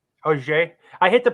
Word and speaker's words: Auxerre: I think it's Auger. Auger. I hit the pronunciation.